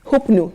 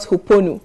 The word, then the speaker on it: Huponu: It's Hupnu, not Huponu.